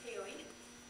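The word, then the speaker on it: ceilidh: you're looking at but that's uh what we pronounce as kayy and a GIC word meaning to visit that's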